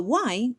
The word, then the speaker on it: y: If the Y is a word on its own, like the word and, which in Spanish we say y, may pronounce it like an I.